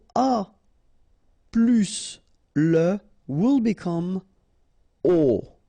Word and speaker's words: aux: get this aux, okay, and then phonetically you produce it or you pronounce it o.